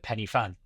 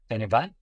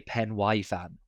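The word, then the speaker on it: Pen y Fan: And if they're English, they probably call it Penny Fan. Um, which I'm sure you've heard plenty of times, but you're pronouncing it correctly, obviously, is uh Penny Fan. Penny Van, how do I pronounce it properly?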